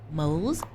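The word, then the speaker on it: موز: But bananas are pronounced moz in Arabic.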